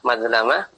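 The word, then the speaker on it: مظلمة: Tadi bacanya lamnya ternyata fathah, madlamah. Bi fathil lami, dengan menfathah huruf lamnya.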